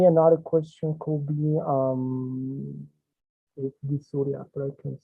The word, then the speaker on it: dysuria: I have doubt with this pronunciation. Is dysuria? Dysuria? Or how is the pronunciation in English? Dysuria, it's okay.